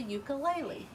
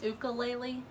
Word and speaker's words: ukulele: I've heard some people pronounce it ukulele, but I think it's more often pronounced ukulele.